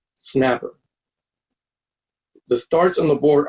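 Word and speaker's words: SNAPR: the S and a P our departure is pronounced snapper the starts on the board are locations of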